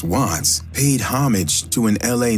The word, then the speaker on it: Wvttz: didn't proove of it the name WV ttz pronounced wats paid homage to an